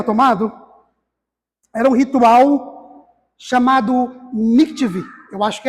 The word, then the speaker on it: mikveh: era um ritual chamado mikveh. Eu acho que é assim que se pronuncia, tá? Eu não sou profissional em hebraico. M-I-K-V-E, com acento no E.